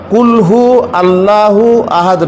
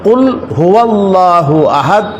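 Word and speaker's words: قل هو الله أحد: কুল হু আল্লাহু আহাদ নয়, বরং কুল হুয়াল্লাহু আহাদ, এটা হচ্ছে সঠিক উচ্চারণ।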